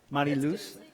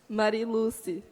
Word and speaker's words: Mariluce: Wait, how do you pronounce it? Souza. Mariluz? Mariluz? How do you say it? Say it again. Mariluce. Souza. Souza.